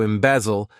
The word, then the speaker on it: embezzle: Embezzle. To embezzle, this verb has 3 syllables, and the stress is on that second syllable.